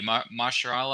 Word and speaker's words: Mahershala: So I'm curious, I can't pronounce his first name correctly, but Ali, Mahershala Ali, I believe is how you pronounce his name. Mahershala Ali.